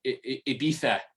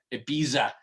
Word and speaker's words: Ibiza: It's pretty famous, called Ibiza. You Americans call it Ibiza, even though that's not how it's pronounced.